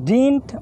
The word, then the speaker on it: didn't: খেয়াল করো subject plus ডিন্ট অর্থাৎ যেটাকে তোমরা ডিডন্ট বলো অ্যাপ্রোপ্রিয়েট উচ্চারণ হচ্ছে ডিন্ট subject plus ডিন্ট plus